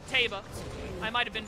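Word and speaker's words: Teba: as i can sup it's taba except she pronounces it teva i might have been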